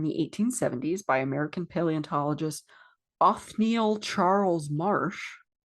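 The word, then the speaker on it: Othniel: 1870s by American paleontologist Anneil Charles Marsh. Uhhuh. That's a good call. Cthulhu name is spelled o t h n i e l like Neil but with off in front of it.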